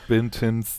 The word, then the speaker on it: Benton: And this episode basically just serves as Benton's fan service. Say it one syllable. Benton. Like, Benton.